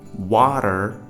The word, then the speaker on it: water: So water in this, the A is pronounced as ah in the standard American accent, and T is converted into a flap T, and there is a pronunciation of at the end.